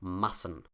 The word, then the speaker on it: Massen: Because of this double S, this is a short A, and the consonant sound is a soft S. Massen.